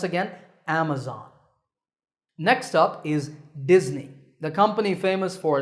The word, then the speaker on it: Disney: If you said Disney, that's the mistake. The S in the middle is actually a Z sound, as you can see in the pronunciation symbols on the screen. So it's Disney, remember that.